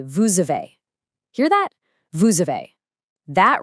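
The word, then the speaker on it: vous avez: Normally that s in vu is totally silent. But because the next word a starts with the vowel uh that silent suddenly wakes up. It jumps over and links to the uh and it makes a z sound. So you don't say vu a. You say vuve.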